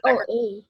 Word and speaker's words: Oa: That's OA, not Oa. That's how you say it, Oa.